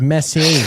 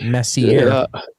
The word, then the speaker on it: Messier: Yeah, it's Messier, not Messier.